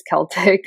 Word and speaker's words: Celtic: And she's like, Gab, actually, I don't know that it is Celtic. I could be Celtic because guess what? In Europe, they say both. So I was like, okay, then. I'm not surprised. It's one of those words where probably depending on, the pronunciations in the language that it came down through, it's got more than one way of Shout out to the said.